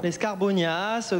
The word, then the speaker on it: escarbonias: Il faut bien prononcer le S à la fin, hein, c'est juste ce que je veux dire. L'escarbonias, comme Nas.